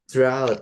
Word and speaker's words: drought: Jadi, GHT tadi gh-nya enggak usah dibaca, ya. Jadi, langsung t aja. Drut gitu. Drut ya. Bacanya tuh kayak gini nih, kayak not drutnya gitu ya.